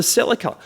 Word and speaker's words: Celica: one that's often forgotten it's the toyota celica or the celica both pronunciations are correct we call it the celica here you might call it the celica there they're both right as we mentioned at